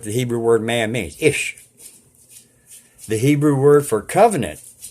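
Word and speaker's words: אִישׁ: sheep have been found the Hebrew word for man is pronounced ish that's what the Hebrew word man means ish the Hebrew word for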